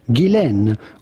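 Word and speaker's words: Ghislaine: Now the question is on her first name more than anything which is of French origin and in French it can be pronounced either Gilen or Jane but in British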